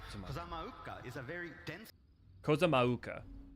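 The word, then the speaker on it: Kozama'uka: Kozamauka is how you say it.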